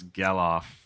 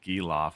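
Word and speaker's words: Gelof: But tell him to pronounce Gellof, not Gilof.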